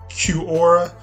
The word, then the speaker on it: Quora: we have used before I believe it's pronounced Q aura q-u-o-r-a okay so let's get